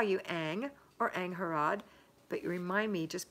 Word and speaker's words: Angharad: Okay, here's how you say her name. Angharad. Is that right? Angharad. It's from Wales, and you can call me Ang.